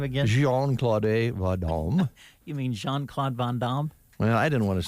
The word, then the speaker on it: Jean-Claude Van Damme: Jean-Claude Vadam, 61 today. Can you today. say that again? Can you say his name again? Jean-Claude You mean Jean-Claude Van Damme?